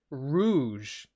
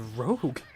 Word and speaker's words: Rouge: Rouge. Rouge. Rouge the bat. Rouge. Go. Is that how you pronounce it? Rouge. What the hell? I always thought I was rogue.